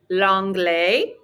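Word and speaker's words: l'anglais: you like english 2m longley repete longley notice our s on the end is silent and we flow right into that a repeteel longlei r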